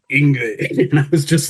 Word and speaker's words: Yngwie: And I was a 14-year-old kid at the time, and I was pronouncing it Yngwie, and he corrected me in a very like,